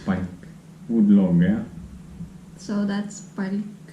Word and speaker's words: palk: So that's palk. Palk. Palk. Soft, yeah. Then it's And when it's hard, palk. palk.